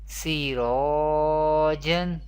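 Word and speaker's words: سِرَاجًا: جیم تو زبر جن Sirajan, Sirajan. In both examples, the letter ra will be pronounced thick voice or heavy voice.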